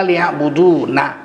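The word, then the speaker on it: ليعبدون: Maka sunat membacanya mulutnya ke bawah. Ismam sirri. Illa liya'budun. Nah, walaupun bunyinya enggak berubah.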